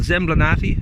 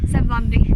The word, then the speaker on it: Zemblanity: They're going through a video game called Zemblanati or Zemblanity. Zemblanity. There we go.